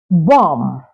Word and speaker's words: bomb: you have words like bomb yeah bomb not bomb so the second B is silent so you say bom